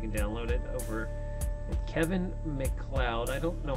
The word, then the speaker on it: MacLeod: do you say that McLeod is how you say it because I would think it would use felt like a cloud this looks like load